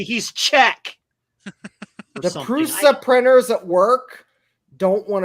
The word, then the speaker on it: Prusa: yeah but I have tried to get our presser printers at work to print them the presser printers usually do fine for utility things but pronounce it correctly he's check the prusa printers at work don't want to print that